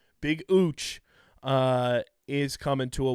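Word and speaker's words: Uche: rusher Josh uch to a one-year deal it's pronounced uch we found a tweet from 20 he saying that's how his name is pronounced big ooch uh is coming to a one-year deal formerly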